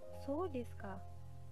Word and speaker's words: そうですか: So desu ka. Di sini penggunaan so desu ka ketika mendapatkan informasi baru, ekspresi ini digunakan untuk menyatakan telah mengerti. Diucapkan dengan intonasi menurun.